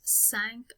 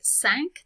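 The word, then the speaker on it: cinq: have in five years sank on okay and notice when i say sank that q at the end gets pronounced it's going before on which is a word that starts with a vowel so how old will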